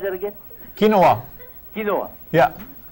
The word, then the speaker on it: quinoa: How do you pronounce that again? Quinoa.